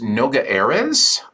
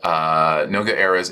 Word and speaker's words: Noga Erez: But the artist, I believe their name is pronounced Noga Erez. I could be wrong.